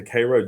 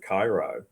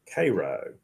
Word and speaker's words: Cairo: So Yeah, if you go home to Cairo, Georgia, people get really upset if you pronounce it Cairo.